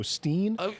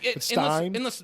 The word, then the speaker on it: Stein: they looking to go Steen Ste in in the song they but the correct German pronunciation is Stein e e before I is pronounced I i before e is pronounced e you with the two